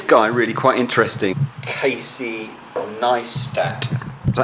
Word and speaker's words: Neistat: Casey Niestat. Is that how you pronounce it? Niestat? Niestat. Niestat. Niestat. Niestat. Niestat. No, there's no sh. There's no sh in there. It's st, not sh.